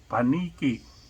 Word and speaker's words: paniki: Paniki.